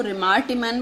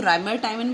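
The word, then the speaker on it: Reimer–Tiemann: इसके प्रोनाउंस करने का अपना अपना सबका एक अलग मैनर है. कोई इसको रिमार टिमन बोलता है, कोई इसको राइमर टाइमन बोलता है.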